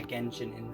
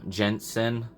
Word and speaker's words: Genshin Impact: Is that how you say it? Yeah, Genshin Impact. I always thought it was called like a J, Jensen.